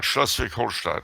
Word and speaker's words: Schleswig-Holstein: Schleswig-Holstein question. Do you know of any good books that explain the issue? Did I say that right? Yeah, Schleswig-Holstein.